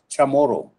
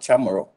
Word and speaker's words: Chamorro: very much would like to know that it's pronounced chamorro not chamorro just a minor there but uh appreciate it